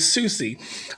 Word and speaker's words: Soucy: And I forgot to ask them how to pronounce the name. Is it Soucy? Soucy, okay, it is Soucy.